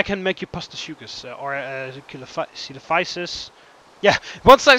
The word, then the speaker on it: Coelophysis: Apparently it's called Coelophysis or something, pronounced in actual English.